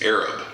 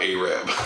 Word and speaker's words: Arab: Why that is pronounced Tolliver escapes me, but by golly, I learned. It's Arab, not Arab.